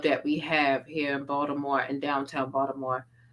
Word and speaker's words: Baltimore: hear people talk about Baltimore and they're like, "Oh yeah, Baltimore." And they pronounce the T and the L and I'm like that's not how you say it. it's fucking Baltimore.